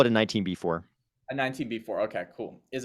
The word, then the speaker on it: 19b-4: I would just call it a 19B4.